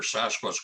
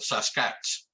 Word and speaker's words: Sasquatch: saw they're called the sasquatch saskatch the best way to pronounce it is take the word basket drop the b and add sas to it well j.w burns used